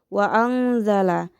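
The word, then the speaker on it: وَأَنزَلَ: Lanjut, kita bisa melihat pada lafaz wa anzala memiliki hukum tajwid yaitu ikhfa hakiki karena terdapat nun sukun yang bertemu dengan huruf za sehingga cara bacanya pun samar disertai dengung. Wa anzala.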